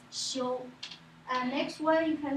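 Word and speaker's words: 休: So a man, a tree, that is rest. We pronounce xiu.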